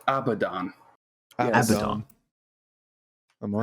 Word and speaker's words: Abaddon: Yes, it's pronounced Abaddon.